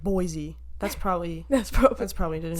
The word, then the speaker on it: Boise: Boise should be like boys. Yeah. Boise. Literally no other English word is that.